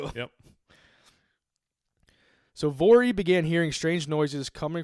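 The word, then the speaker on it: Voirrey: Vory. I don't know. There was I heard several different pronunciations. I just went with what rhymed with my name is easier to remember.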